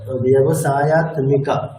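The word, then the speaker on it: व्यवसायात्मिका: আচ্ছা, ব্যবসায়াত্মিকা তো ম দুটোই উচ্চারণ হবে, মানে সমষ্টি ব্যবসায়াত্মিকা। ব্যবসায়াত্মিকা মানে যুক্তাক্ষরে বাংলার মতো হয় না, মানে দুটো অক্ষরে উচ্চারণ করতে হয়।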